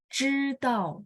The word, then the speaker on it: 知道: yang benar di mana ZH ini adalah bacanya lidahnya ditekuk dan bunyinya C, dia tidak ada angin. Jadi bacanya misal teman-teman kalau ingat 知道, 知道, dia pinginnya gimana? 知道, artinya tahu ya. 知道, bersih, tidak ada angin, bunyinya C. C doang ya bunyinya ya.